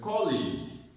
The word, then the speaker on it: colleague: When you say colleague, you're stressing league. But it's colleague. She's my colleague. Colleague. So the stress is in call.